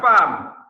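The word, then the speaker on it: femme: What's the meaning of farm?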